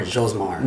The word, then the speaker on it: Josmar: Is it Josmar or Josmar? yeah, it's pronounced Josmar.